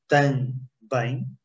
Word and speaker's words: também: Também. Try to divide it in two syllables, tan and bem. One syllable, okay? Tan, one syllable, bem, two syllables.